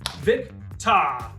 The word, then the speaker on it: Victor: Victa. Victa. Say it like you're a thespian. Victa.